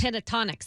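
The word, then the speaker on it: Pentatonix: How do you pronounce it? Pentatonics. Pentatonics, that's right.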